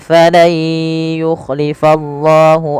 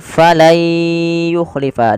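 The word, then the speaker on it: فَلَن يُخْلِفَ: Maka cara membacanya bukan lagi falan yukhlifallah, tapi menjadi falai yukhlifa. Diganti suara nunnya menjadi suara ya.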